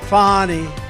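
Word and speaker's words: Fani: right has anybody fonnie it's pronounced fonnie F and I that's Fanny but she likes it funny when she became the whatever she became da she became the da she said my name is fonnie fonnie wellis and her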